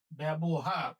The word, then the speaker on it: ব্যবহার: লিখতে হবে এভাবে এরপর আমরা বলি বহ আমরা বহার বলি না বলি ব হার ব্যবহার এখানে হস চিহ্ন দিচ্ছি